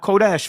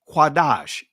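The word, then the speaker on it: קדש: As you see here, quadash. It's not kodash family. When you say kodash, that's Israeli influence. It's cuadash.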